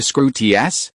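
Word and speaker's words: Skrewt: Its pronunciation is close to scruts.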